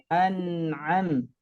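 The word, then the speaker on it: أَنْعَمْ: Kemudian an'am itu ada sifat tawasudnya. Jangan sampai annya mantul. An'am.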